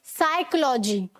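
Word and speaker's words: psychology: है, ठीक है, तो उस स्पेलिंग में भी ये जो पी है वो साइलेंट होगा, एस से पहले वाला पी भी साइलेंट होता है। साइकोलॉजी, ठीक है, साइकोलॉजी मतलब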